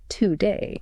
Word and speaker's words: today: Because the first syllable is unstressed, that O cannot retain its full shape. It must shrink to maintain the rhythm. It collapses into a schwa. We say, today.